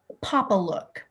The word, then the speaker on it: Papalook: brand name again and if you need to spell it that would be great too yes it's called papalook p a p a l o okay okay